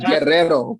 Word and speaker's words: Guerrero: from sinaloa i'm from guerrero oh oh notice that i matched your accent when i said that as opposed to saying guerrero which is the correct pronunciation the uh i was